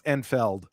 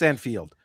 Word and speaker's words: Enfield: Enfield that I sometimes pronounce Enfeld, but it's Anfield.